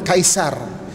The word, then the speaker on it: Caesar: Kan, dia panggil Caesar ataupun Kaisar. Caesar tu orang British panggil. Kan, sebahagian pronunciation dia Kaisar. Arab pun panggil Kaisar.